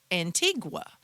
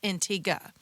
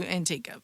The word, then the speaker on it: Antigua: So, a lot of you when you have heard of this island, you may have heard it pronounced Antigua.